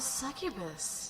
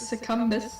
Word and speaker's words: succubus: you mean silly girl i'm a succubus see that's how you pronounce it i thought it was circumstance it's not there's no end there i thought there was